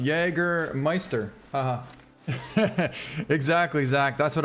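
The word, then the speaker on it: Jägermeister: It's pronounced Jagermeister.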